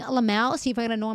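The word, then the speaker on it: LMAO: You're just hearing it phonetically. It's just Lamau.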